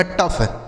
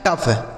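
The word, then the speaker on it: tough: ओ यू जी एच का उच्चारण फ। ये लिखा गया आपका टफ। क्या लिखा है? टफ।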